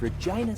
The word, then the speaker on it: Regina: Wilson out of Regina, Saskatchewan lines up the shot. His form looks good. Oh, and that's why Regina rhymes with fun.